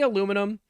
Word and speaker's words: aluminum: How do I say aluminum? I say aluminum, but I also think that the way that Brits say aluminium is correct. I think they're both right.